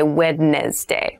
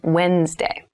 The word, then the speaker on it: Wednesday: this is pronounced Wednesday There's a d there but we don't say wedness day we say Wednesday Wednesday the 18th Wednesday